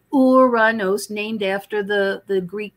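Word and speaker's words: Uranus: loves to joke about that name but it's pronounced uranos named after the the Greek god of of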